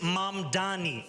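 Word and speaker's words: Mamdani: And furthermore, the name is Mam Dani. M A M D A N I. You should learn how to say it.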